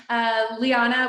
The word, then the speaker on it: Liana: here with us today, Liana, which, oh my gosh, in our talk before this, I didn't even ask if that was the right way to pronounce it. Yes. So I feel No, spot on.